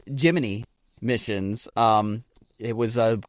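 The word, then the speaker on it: Gemini: Astronauts also received custom wakeup songs from mission control each morning, a tradition dating back to the, it is pronounced, Jiminy missions.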